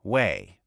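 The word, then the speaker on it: Hue: Jack Patton was killed by a sniper in Wei, pronounced Wei.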